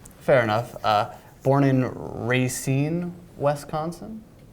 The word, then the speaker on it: Racine: Born in Racine, Wisconsin? Your pronunciation is pretty bad, but Racine.